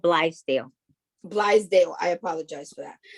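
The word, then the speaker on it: Blythedale: She is also the manager of foundation and corporation relations for the Bill Dade Children's Hospital. Did I say it correctly? No, it's okay. It's called Blithedale.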